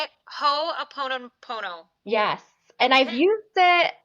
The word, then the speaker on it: Ho‘oponopono: How do you pronounce it? Hoon pono. Say it. Ho a pon pono.